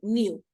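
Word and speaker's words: knew: K and the N the K doesn't have a sound okay so we just say no and new okay we don't pronounce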